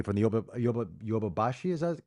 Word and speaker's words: Yodobashi: Yodo. I'm leading you astray. It's Yodobashi.